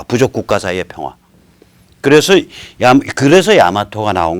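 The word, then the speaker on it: 大和: 그 야마토라는 거를 그건 이제 말로 읽을 땐 야마토라고 읽지만 실제로 한자로 쓰는 거 보면 다이와란 말이에요.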